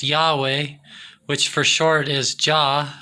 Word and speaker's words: Yahweh: magic okay so the tetragram which is yhwh pronounced yahweh which for short is ja so the deity